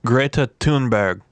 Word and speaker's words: Greta Thunberg: Did you hear about first of all, her name I found out is Greta Thunberg.